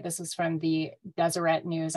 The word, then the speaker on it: Deseret: this is from the Deseret News I know you think I'm saying that wrong but my husband's from Utah and I know that's how you say it yeah say it like the French um I think that